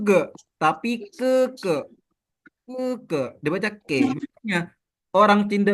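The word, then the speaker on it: 哥哥: bukan dipanggil Gogo kan Nah Koko itu diambil dari kata ke ke yang artinya adalah kakak laki-laki gitu Jadi ini bacanya bukan ge ge tapi ke ke gitu bacanya bukan G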